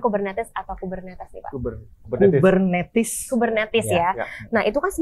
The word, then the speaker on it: Kubernetes: Bacanya Kubernetes atau Kubernetes nih, Pak? Kubernetes.